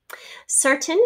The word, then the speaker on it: certain: she returned the book certain is a tough one to remember in part because we have the er sir c-e-r for the first syllable and then we have t-a-n-e which turns into a schwa a i turns into a schwa certain it's just got kind of this uh schwa sound at the end but it is spelled a i modern computers are a